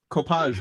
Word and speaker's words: Copage: Copage rhymes with garage.